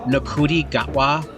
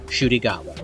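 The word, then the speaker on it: Ncuti Gatwa: for months now I've been calling him nudi gatwa I found out that that's not how you pronounce his name it's actually shy gatwa I also want to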